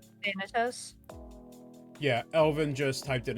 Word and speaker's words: Thanatos: Thanatos. I'm assuming that's how it's pronounced. Thanatos?